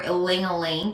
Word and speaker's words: ylang-ylang: Tonight I've decided to work with the oil of ylang-ylang or ilang-ilang, depending on how you pronounce it.